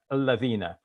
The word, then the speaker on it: الَّذِينَ: In Arabic, what we do is we join the laqu with alladhina. So we're going to make it laqulladhina, even though it is